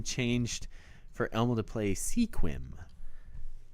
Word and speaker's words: Sequim: for Elma to play Sequim which yes I know it's pronounced squim oh that game didn't